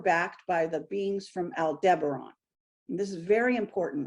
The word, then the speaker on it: Aldebaran: So this was the beings, again, from this, it's a constellation called Aldebaran. That's how I pronounce it. Some people pronounce it another way.